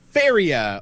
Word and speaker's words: Faeria: right this time guys talk about feria or I guess fairy is the only way you're gonna be / be able to pronounce it it's fa e r-ia it's got the footage the ash the AE in there but feria is a